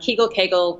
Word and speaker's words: Kegel: So then I created Kegel Mojo, Kegel, tomato, tomato, you can pronounce it either way.